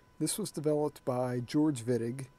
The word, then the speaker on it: Wittig: reaction it's called the wittig reaction this was developed by george wittig he was a german chemist and that's why it's pronounced with a v instead of a w and what this reaction